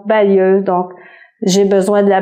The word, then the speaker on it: balayeuse: Balayeuse, on prononce balayeuse, donc j'ai besoin de la balayeuse, j'ai passé la balayeuse.